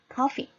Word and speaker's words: coffee: 액센이 앞에 있습니다. coffee, coffee.